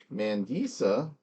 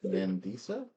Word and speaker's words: Mandisa: Um, Mandisa is pretty much the way it sounds. M A N D I S A. No, that's not how I would have spelled it. Mandisa.